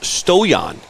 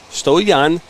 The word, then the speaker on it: Stoyan: I met with him it's pronounced stoyan stoyan good ball here on